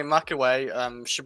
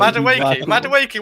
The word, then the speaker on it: Madueke: If you're on about attackers, Sterling, and probably Nani Mackaway. If we play 2 wingers, like have You butchered that name so Madueke.